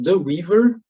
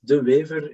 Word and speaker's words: de Wever: I'm de Wever, that's how you pronounce it, de Wever in Dutch.